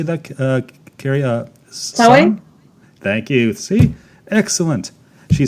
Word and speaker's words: Samhain: Samhain?